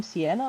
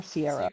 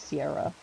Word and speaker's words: Sierra: Is her name Sienna or Sierra? I think it's Sierra. Yeah. Sierra, yeah. I was saying her name wrong.